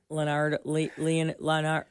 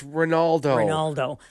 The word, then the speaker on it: Ronaldo: Leonardo. Am I saying it right? Leonardo. It's Ronaldo. Leonardo.